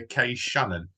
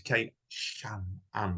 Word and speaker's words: Kay Channon: The doctors have been calling her Kay Channon. It's not, it's Kay Channon with a C, right?